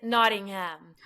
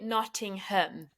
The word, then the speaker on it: Nottingham: nothingham nodding him okay the American version is notingham but it's you actually pronounce it noting him oh love itting Notting